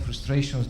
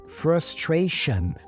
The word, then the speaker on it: frustration: another schwa sound Shania we have two schwa Sounds here frustration frustration that's the